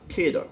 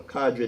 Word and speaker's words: cadre: The government entities for many years have run on what they call a cadre, or cadre, depending on how you pronounce it.